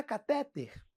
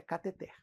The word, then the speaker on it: cateter: Cateter. Felipe, não é catéter? Se você tiver doente, internado, é catéter, é até catheter. Na prova, é cateter.